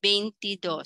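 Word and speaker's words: veintidós: want to say it's 22 it should be bentidos some are very particular that's why in financial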